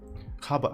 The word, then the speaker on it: Java: going to have here java yes haba actually oh because is is v like b like pronounced like b in spanish oh and interesting we